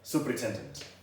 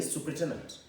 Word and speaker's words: superintendent: That is the spelling of the word superintendent. Superintendent. That is the simple pronunciation I can give. But when you're reading it, superintendent.